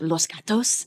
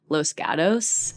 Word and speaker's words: Los Gatos: up in is called if you said it in Spanish Los Gatos but we all say it like white people cuz it's in California we say Los Gatos yes that's where I